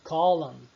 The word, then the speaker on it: column: Tem aquele column. Eu não pronuncio o N no final.